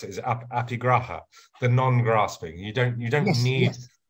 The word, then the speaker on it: aparigraha: Now, this is a very beautiful word, aparigraha, which I think you have pronounced correctly.